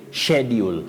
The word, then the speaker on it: schedule: And we say schedule for the American pronunciation. But when you come to the British English phonology, we have what we call a trigraph. I mean, that is 3 letters combining, or a combination of 3 letters representing one sound. So S, C, and H takes the sounding sh, so you say schedule. Schedule of classes. That is now the British pronunciation, yes.